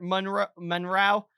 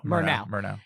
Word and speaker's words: Murnau: Yeah, and at this point in his career, Monroe, how do you say it? Murnau.